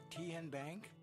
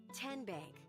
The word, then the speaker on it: TN Bank: How do you say the name? TN Bank? Nope. Tin Bank? So what is it? 10 Bank. 10, as in Tennessee, right here where all our banking decisions are made.